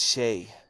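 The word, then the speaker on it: Shai: want to put an end to it it's Shay sorry sh Alexander not sh he should spell it correctly then well can you think of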